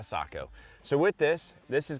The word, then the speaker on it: Sako: notifications the seiko s20 is a fairly new rifle offering from seiko or sako obviously here the united states pronounce things a little bit differently but it is ultimately a sako so with this this